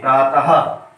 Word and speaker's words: प्रातः: विसर्ग क्या होता है, जैसे अभी बताया प्रातः, ये प्रातः पढ़ेंगे हम प्रातः, तो हा की विसर्ग आवाज देता है, तो विसर्ग का उच्चारण जो होता है वो हा की तरह होता है, इसलिए प्रातः ये होता है।